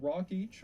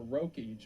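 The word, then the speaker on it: Rokeach: As mentioned, Milton Rockich or Roich, I've heard it pronounced both ways, was a social psychologist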